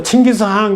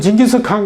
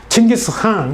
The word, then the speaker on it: 칭기스한: 제가 징기스칸 그러지 않고 칭기스한 그러는데 이거는 몽골에 가서 배운 말입니다. 몽골 사람들은 징기스칸 그러면 몰라요. 칭기스한 KHA는 이걸 이렇게 표기하지만 읽을 때는 K가 묵음입니다. 묵음이래요. 소리 나지 않습니다. 그래서 한 이렇게 해요. 한 이렇게 내요. 한이라는 발음을 강하게 내죠. 칭기스한 이렇게 내는 거죠.